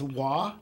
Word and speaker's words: Roy: Roy. Anyone call you Mr. Roy? No. Yeah. Well, actually, how do you like that? It's it's actually supposed to be pronounced Wah. Oh, like French.